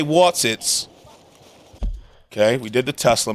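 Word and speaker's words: Wotsits: I love that they're called Whatsits. Am I saying it right? Whatsits? Or are they Watsits? Oh, they Watsits.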